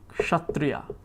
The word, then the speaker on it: kshatriya: So there will be a tendency to say kasha first, right? Kshatriya, kshatriya. Fine. But eventually we want to